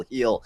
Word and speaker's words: Gil: Luis heel I guess I said Gil heel that's how you pronounce it but they were that